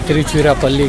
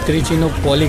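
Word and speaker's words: Tiruchirappalli: दरअसल जब यहाँ ब्रिटिशर थे तो उन्हें प्रोनाउंसिएशन करना नहीं आता था यहाँ तिरुचिरापल्ली का, तो तिरुचिनोपोली कहते थे इसे, तिरुचिनोपोली, तिरुचिनोपोली।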